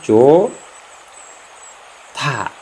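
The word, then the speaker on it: 좋다: Tapi karena hiat, ada hiat di sini bertemu diget, maka hiatnya itu tidak berbunyi dan digetnya itu dibaca hiat. Jadi cara membacanya yaitu jo ta. Jo ta. Saya ulangi, jo ta.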